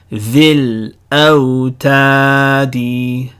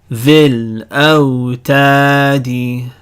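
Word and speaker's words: ذي الأوتاد: ya in the, but because it's followed by a sukoon over here, we're going to drop the ya. The ya becomes silent. Dhil awtadi. Dhil awtadi.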